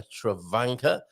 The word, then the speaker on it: Travanca: I'm going to go with a Travanca. Rhymes with a Spanker.